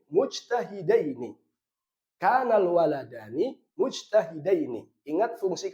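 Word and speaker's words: مجتهدين: Bacanya berarti mujtahidaini, bukan mujtahidani, tapi mujtahidaini.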